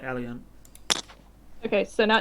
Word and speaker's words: Eleint: that, but I say it like Eleint.